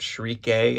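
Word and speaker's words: Schierke: I think we're very deliberately also getting this nice juxtaposition between the rather wholesome crush that Shriek A, as my chat here on Twitch is letting me know it's pronounced, has on Guts, and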